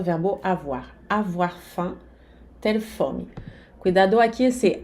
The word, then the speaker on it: faim: Avoir faim, ter fome. Cuidado aqui, esse A-I-M faz um som 1, d'accord? O M aqui não se pronuncia de jeito nenhum.